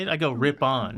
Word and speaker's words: Ripon: I go Ripon. Ripon, yeah.